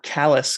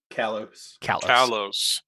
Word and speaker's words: Callus: you say your name kaylos uh callos it's actually callus but he's he's hiding